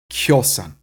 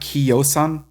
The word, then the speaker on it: kiosan: Kjosan. So it's not kiosan, but kjosan. Even though it's spelled with an I, it's what we call palatalized because it comes from that diphthong.